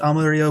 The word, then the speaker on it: Amarillo: all this time uh it's named after this the Spanish word for yellow because the grass the